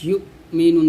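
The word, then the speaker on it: يُؤْمِنُونَ: আকসারিহিম ফাহুম লা ইউমিনুন, দেখুন এখানে ইউমিনুন বলতে হবে, এই হামজা উচ্চারণ করতে হবে, লাকাদ হাক্কাল কওলু আলা আকসারিহিম ফাহুম লা ইউমিনুন।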